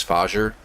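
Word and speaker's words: Fajr: And the SE the SEC it's under is uh I'm going to pronounce it as FER. It's F A JR.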